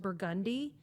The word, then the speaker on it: Burgundy: It's spelled the color burgundy, but it's pronounced burgundy.